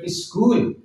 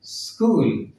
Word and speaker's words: school: स्कूल हम लोग बोलते हैं ना SCHWL स्कूल, तो सही प्रोनाउंसिएशन है स्कूल। एस को हल्का से बोलेंगे स्कूल।